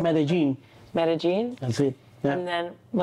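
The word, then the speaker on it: Medellín: Pronouncing Medellin. Medellin.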